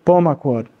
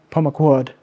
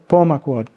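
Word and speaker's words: Pemaquid: And as I said earlier, the stress is on the third to last syllable in most Wabanaki languages, which is why I sometimes say Abenaki. So Pomaquod, not Pomaquod, or Pom, okay? So Pomaquod, if that helps.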